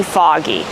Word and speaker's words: fog: So remember the pronunciation of words with O-G, with no vowel after it. We pronounce it aw, og, fog. We make the sound aw, like in call and ball, and audio, audience. Also, we have the same sound in words like saw and law.